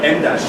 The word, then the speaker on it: em dash: It's the size of an M. That's why it's called an M dash, even though it's spelled EM dash.